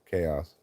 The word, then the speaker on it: Kaos: It's spelled Kaos. Chaos.